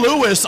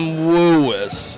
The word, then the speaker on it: Woois: Well, he's introduced himself. It's Tim Woois. Tim Woois. Like W-O-O-I-S is what his last. You said it's Lewis.